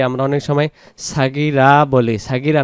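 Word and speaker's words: صغيرا: এই জায়গায় রাব্বায়ানি, যে রাব্বা যেন উচ্চারণ হয়, রব্বা উচ্চারণ হবে, আর নিস সগীরা হবে না, রব্বায়ানি, নি নুন ইয়াজির নি এক আলিফ টান হবে, রব্বায়ানি সগীরা, সাগীরা উচ্চারণ হবে না, সগীরা।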